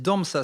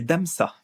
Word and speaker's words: DMS: bossé avec DMS oui DMS miniature c'est damsa c'est ça euh non c'est damsa ah damsa oui c'est ça je je le prononce mal ouais DMS miniature